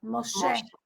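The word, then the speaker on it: משה: Moshe.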